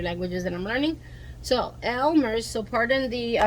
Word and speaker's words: Elmer's: I prefer Elmer's glue. So let's see. I prefer Elmo's. I'm Hispanic and I'm New Yorican, so I speak Spanish, English, Spanglish, and many other languages that I'm learning. So Elmer's.